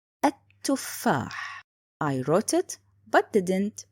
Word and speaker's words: التفاح: The second point, it's written but not spoken. التفاح.